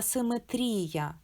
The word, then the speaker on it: симетрія: Асиметрія та симетрія мають і з крапкою. Вона найвища в слові і це наче наголос.